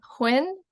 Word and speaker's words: Huynh: and I'm going to ask her to uh pronounce her full name for us hi my name is Hinn and yeah I'm happy to be here